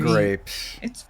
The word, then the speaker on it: Graeps: Grapes.